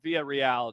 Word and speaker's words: Villarreal: sorry it's levante versus villarreal uh via real john is how it's pronounced i'll go with via